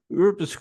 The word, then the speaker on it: Urskog: How do you pronounce that? Urskog.